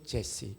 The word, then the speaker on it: Jesse: I have found David, son of Jesse. 이세가 영어 발음으로 제시입니다.